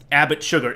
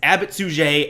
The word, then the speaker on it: Abbot Suger: Now, I know it looks like Abbot Sugar, but you should not say it like Abbott Sugar. It is Abbot Suger, and it is not a porn star's name.